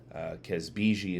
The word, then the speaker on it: Kazbegi: This is a barley episode, and it is Kazbegi. I believe I have the pronunciation correct. Kazbegi is a lager from